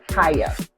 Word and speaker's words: Kiyah: And I said the name wrong. It's actually called Kiyah.